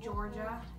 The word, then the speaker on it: Jorja: So they named me Georgia, and my name is spelled J-O-R-J-A.